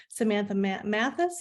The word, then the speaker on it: Samantha Mathis: Alongside with Richard Widmark, Frances Fisher, and Lee Garlington, Samantha Mathis, is that how I pronounce her name?